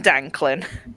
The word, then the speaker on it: Danklin: So, since that was Tim Tim Danklin, how do you spell that? T I M D A N K L I N. Brilliant. Like Franklin but with a instead of FR.